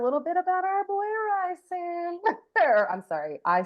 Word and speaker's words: Rysand: I know it's Yes. pronounced Ryzand. Oh my God, y'all. We do have to say we will pronounce certain names technically not the right way, but it is Rysand. It's rice.